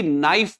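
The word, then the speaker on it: knife: ऐसे ही नाइफ पढ़ते हैं यहां पे। जबकि लिखते के एन आई एफ ई बट के को साइलेंट करके नाइफ यानी कि चाकू होता है।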